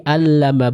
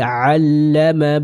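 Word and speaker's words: عَلَّمَ: Dan ini juga saya pernah menemukan ya beberapa yang membacakan seperti ini, alladzi 'allama bil qalam dengan huruf hamzah, dan ini kurang tepat ya. Yang tepat adalah dibacakan dengan huruf ain. Alladzi 'allama bil qalam.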